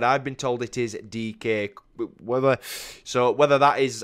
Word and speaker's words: Dike: from what i've told us when it is pronounced dk um i was gonna obviously if i had not been told that i would have said die because obviously that's how it spelled but i've